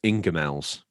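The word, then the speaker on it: Ingoldmells: Gold mels called BJs now that's pronounced Ingels oh Ingels that's an English thing I guess yeah called BJs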